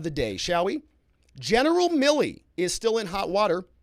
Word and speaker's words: Milley: Chris Walney gave me some education on how to pronounce Milley, like Vanilli.